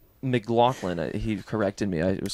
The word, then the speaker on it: McLaughlin: Well, didn't you say McLaughlin? I said McLaughlin, and then he said it's McLaughlin.